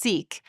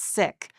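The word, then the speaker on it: Sikh: The sick faith, which you have perhaps heard pronounced sik, a way to ease some of the confusion with other words in the English language, but is actually pronounced sik, comes from the Punjab region in India in the late 15th century.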